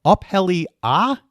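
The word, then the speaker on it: Up Helly Aa: your book, I can't remember, is this called Uphelly Ah?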